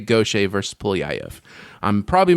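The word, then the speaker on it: Gautier: Now in Louisiana that is actually very common last name and it's pronounced gocha but this person is not from Louisiana.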